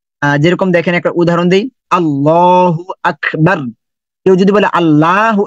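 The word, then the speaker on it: الله: আল্লাহ আমাদের সৃষ্টিকর্তা আল্লাহ এই আল্লাহকে দুটা ভাবে উচ্চারণ করতে হয় আল্লাহ শব্দটাকে দুটা ভাবে উচ্চারণ করতে হয় কিন্তু আমরা জানিনা এটা একসময় আল্লাহ শব্দটা মোটা হবে একসময় আল্লাহ শব্দটা পাতলা হবে এখন কখন মোটা হবে আল্লাহ শব্দের আগে যখন যখন জবর অথবা পেশ আসবে তখন মোটা হবে এখন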